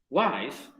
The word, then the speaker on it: wise: Por ejemplo, wise, vas a hacer entonces wiser. Wise. No es wise. Y tampoco es wise, no es wise, no, es wise. Una sola sílaba.